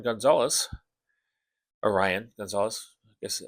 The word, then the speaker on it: Rian: Cover C by Rion Gonzalez. Orion Gonzalez, I guess. R I A N. That's how you pronounce it. Orion.